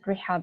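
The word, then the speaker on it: Rihab: uh from from northrop you pronounce it rehab it's a common arabic name so uh because my parents were arabic teachers so they don't know that rehab in english does mean another thing so if i was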